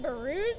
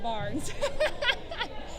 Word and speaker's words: Barnes: barnes because i said is it burus and he said it's barnes said well you should